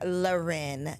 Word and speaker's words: Lauren: y'all that don't know Lauren is the Jamaican pronunciation of Lauren okay we real basic over here okay y'all are fancy with Loren now every time I